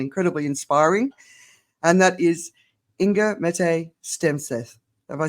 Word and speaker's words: Inger-Mette Stenseth: I have found incredibly inspiring and that is ingga M stth have I said it right you said it